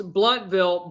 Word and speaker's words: Blountville: one is all i got right but you pronounce bloodville blountville but it's spelled blountville thank you nick